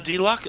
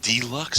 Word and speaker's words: deluxe: the Transformers on the Delux on the deluxe stuff the Delux that's the wrong uh emphasis on the wrong cabel jeez the line works